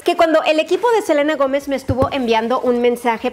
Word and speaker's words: Selena Gomez: que a todo esto ella pronuncia su nombre selena gomez pero ustedes como le dicen a selina como lo pronuncia a ella o selena platiquen en los comentarios